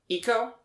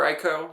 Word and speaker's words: Ico: but have you ever played Eco? And/or Ico, depending on how much of a weep you are. It's spelled ICO. ICO.